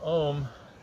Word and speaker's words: Om: So Om is actually pronounced A-U-M.